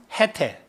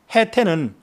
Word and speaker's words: 해태: 일각을 가진 동물로 일명 해태. 또 그거는 태는요. 치라고도 발음해요. 해치라고도.